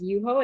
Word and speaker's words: Yuho: too seriously and so the actual kanji on the bottle is pronounced as red as yuho and it can be